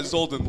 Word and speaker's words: Zolden: It's like, Zolden, like Odin, but like with a Z. And an L.